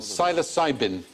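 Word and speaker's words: psilocybin: but the magic mushroom silos cybin a silent P syosin interesting experiments been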